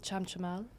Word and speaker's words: Chamchamal: Can you pronounce that? It's called Chamchamal.